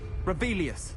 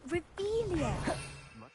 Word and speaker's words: Revelio: Rebellious. You're saying it wrong. Ugh, Revelia.